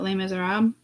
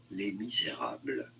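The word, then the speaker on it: Les Misérables: The correct pronunciation of Les Miserables in French or In English, les miserables. Silent.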